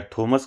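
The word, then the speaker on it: Thomas: या थॉमस कहें या फिर आप इसको टॉमस कहें। ठीक है? जो भी आप प्रोनाउंस करें।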